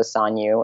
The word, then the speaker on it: Sanyu: why you it's also Sonia in case you're wondering out there it's pronounced both ways my parents have different accents si NYU es te